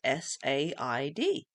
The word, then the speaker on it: said: Again, but the spelling is S-A-I-D. If it was a proper phonics word, it would have been S-E-D. And when you read children's work, some children will spell it as S-E-D because that's how it sounds.